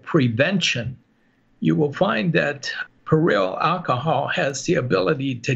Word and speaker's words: Perillyl: Lavender, there is inside lavender a chemotherapy agent called Perillyl alcohol. That's spelled P-E-R-I-L-L-Y-L alcohol.